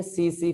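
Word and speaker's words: tsetse: इसको बोलते हैं सीसी फ्लाई, टी साइलेंट रहता है, सीसी फ्लाई बोला जाता है भैया।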